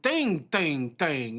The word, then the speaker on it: 땡: Wait, it's saying thing, not dang. What? I guess the D. Oh, You supposed to say the D is silent. The D is invisible.